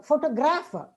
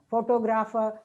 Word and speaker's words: photographer: it's photograph but uh photographer and photographic we may pronounce it as photograph photographer photographic see it's photograph photographer and photography because stress shifts um in derivatives another example say academy